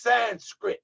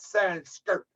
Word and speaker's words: Sanskrit: now here you go it's Sanskrit not sanster okay brother the chat